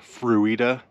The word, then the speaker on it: Fruita: I think it's pronounced Fruita, but I'm from Kansas, and it looks like Fruita to me.